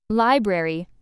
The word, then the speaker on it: library: Library, stress on first syllable, don't miss the r in spelling.